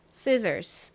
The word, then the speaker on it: scissors: 단어는 가위라 의미를 가진 단어입니다 가위가 영어로 뭔가요 scissors 이죠 scissors 자 적어 보도록 할게요의 뒤에 이